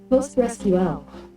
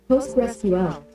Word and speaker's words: PostgreSQL: It is technically incorrect though common to pronounce it postql. Just give me the audio. Postgresql.